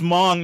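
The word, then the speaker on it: Hmong: but by the way the h is silent and she had studied the people excessively so we i guess it's mong not among so we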